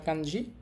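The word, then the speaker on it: 子: তো এইটা একটা বাচ্চার ছবি, বাচ্চার ছবির সাথে মিলে গেছে বিদায় এটা বাচ্চার কাঞ্জি বা শিশুর কাঞ্জি।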